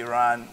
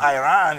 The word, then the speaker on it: Iran: America up until what you are mispronouncing the name of that country is not Iran is Iran and the guy was